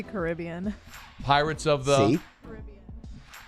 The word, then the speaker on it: Caribbean: But it's pronounced Caribbean. Alondra, what's the name of the movie? Someone pass her a microphone, please. What's the name of the movie? I say Caribbean.